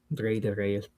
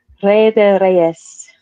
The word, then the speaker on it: Rey de Reyes: Huge thanks to Menace for pulling up and helping breaking down everything between surrounding Rey de Reyes.